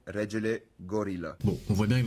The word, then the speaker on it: Regelegorila: Mais la vraie prononciation c'est regel gorilla.